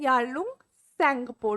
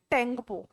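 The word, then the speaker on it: Yarlung Tsangpo: पर इसका नाम है यालुंग सपो don't call it टेंपो this इ याल सपो okay the टी E silent so ब पुत्र रिवर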